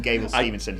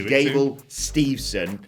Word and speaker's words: Gable Steveson: about gable steve's son i keep getting his name wrong i keep calling him gabriel stevenson his name is gable steveson the olympic gold medalist